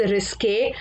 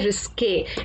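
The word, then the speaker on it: risqué: Second word is रिस्के. अच्छा, इसकी spelling में ना ई के ऊपर एक छोटी सी लाइन होती है. सो इसका जो आपका प्रोनाउंसिएशन है, उसका प्रोनाउंसिएशन है रिस्के. इट्स not called रिस्क.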